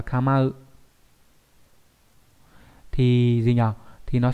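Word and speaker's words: 構う: Kamau là chữ cấu đấy, đọc là kamau.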